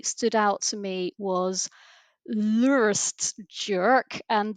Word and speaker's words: lrtsj: And the reason I'm pronouncing it like that is because it's an unpronouncable word. So the beginning of it is just a string of consonants. So it's l r tsj which you know you can't say.